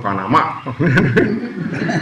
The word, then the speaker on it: Panamá: You know, we were at the airport, and you know, Saturday used to say, "Oh, estamos en Panamá," because in Spanish it's Panama.